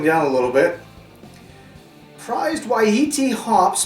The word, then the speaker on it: Wai-iti: this is settling down a little bit prized ye t hops pronounced ye t that's why i pronounced it